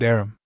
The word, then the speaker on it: arm: an arm your honor he pronounced it arum an arm you goose who ever